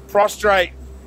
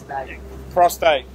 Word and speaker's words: prostate: Enlarged prostrate. Prostate. I can't even say it right.